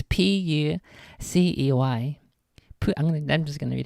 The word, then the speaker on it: Pucey: That's Adrian Pussy. Pussy? Puce? How are you supposed to pronounce it? It's Pucey.